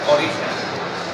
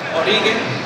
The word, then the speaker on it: Origen: comienzo y ya mucho tiempo el nombre del equipo va a ser Origen. La razón por la que no la queríamos cambiar era porque en inglés se va a pronunciar Origen.